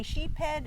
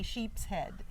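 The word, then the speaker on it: sheepshead: you pronounced it, because there's some people who say sheephead and some people who say sheep's head.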